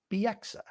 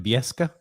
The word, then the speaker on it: Bieksa: He calls him Kevin Bieska. That's what he called him. Kevin Bieska, which is he was the only person to call him that, too.